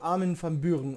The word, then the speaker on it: Armin van Buuren: an ihn van bühren der armin van buuren oder uhren schreibt sie doppelmoral das ist holländisch das wird armin van buuren ausgesprochen armin van buuren orchester